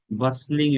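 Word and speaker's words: bustling: এখন ইটস আ বাসলিং area, টির উচ্চারণ হবে না, বাসল বাসলিং মানে হচ্ছে খুব ব্যস্ত, যেখানে অনেক মানুষের আনাগোনা।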